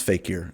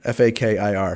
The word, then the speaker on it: fakir: I'm not sure how you pronounce fakir. F-A-K-I-R, fakir.